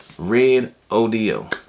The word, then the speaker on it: Red ODO: If you look at the name here, so basically you're just saying the color red and then you're pronouncing the letters ODO. Red ODO, that's the name of it.